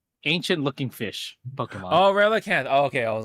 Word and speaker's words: Relicanth: Um, Uh, Relicath is today's Pokemon. wait, who? Relicath? Right, the ancient looking fish Pokemon. Oh, Relicanth.